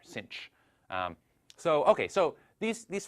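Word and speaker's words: sinh: pronounce this sinc so in American English as if there were an extra C in there Cinch so okay so these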